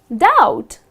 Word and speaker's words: doubt: this word it's just doubt something like do you t you do not pronounce the letter B okay next one come